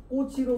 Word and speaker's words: 꽃이: 남무 발음과 표기가 일치하지만 꽃이는 꼬치로 소리남음 과 표기가 일치하지 않습니다 자 끊어 볼까요 여기서